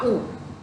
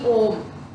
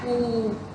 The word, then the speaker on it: ऊ: इसका जो कलर होता है ये इंडिगो होता है, बहुत लाइट पर्पल, और इसका जो उच्चारण है वो है छोटा ऊ, ना कि ओम। इसका है ऊ, ऊ, ये इसकी साउंड है, इसका ये मंत्र है।